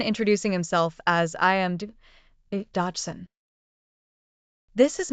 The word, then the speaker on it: Dodgson: in the story it is said that the pronunciation of dodgson sounds very much like dodo and he had a slight stutter often introducing himself as I am Dodson this is not a disrespect towards stuttering it